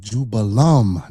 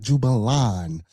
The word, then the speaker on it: Jubelum: It's Jubella, Jubello, and Jubelum, not Jubilan.